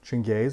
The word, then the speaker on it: Chengis: same boat I want to describe how to pronounce my name because it is a little weird oh right chin gaze it's a little difficult for people so to